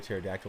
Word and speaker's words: pterodactyl: dad joke here's one why can't you hear a pterodactyl in the bathroom the p is silent yeah that was a